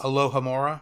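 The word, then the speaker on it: Alohomora: others that I'll occasionally listen to like uh Mora Amora uh however you pronounce that it's a Harry Potter podcast alohamora alohamora thank you I don't remember which spell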